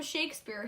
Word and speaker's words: Shakespeare: the Renaissance his name rhymes with Lake spear and he wrote something